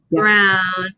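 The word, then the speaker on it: Browne: Do you think that you pronounce the E on the end of that, Sarah? No. Oh, Silly. Brown.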